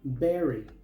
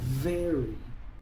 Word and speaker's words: very: Muchos pronuncian esta palabra berry, pero la v se pronuncia como una fua suave. Así que esta palabra se pronuncia very.